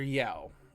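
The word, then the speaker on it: Yueh: Um, the doctor, Doctor Yeo, whatever, however it's Oh, pronounced. Doctor You.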